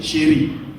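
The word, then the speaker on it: Chiry: Il dit mon nom c'est Chéri. On dit, comment? Chéri ça s'écrit comment? C'est C-H-I-R-Y.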